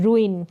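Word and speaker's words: ruin: हो जाना यह है रुन क्या है यहां पर उच्चारण दिया है क्योंकि यह जो स्पेलिंग के अनुसार आप प्रोनंसिएशन सही नहीं कर पाए तो रुन यानी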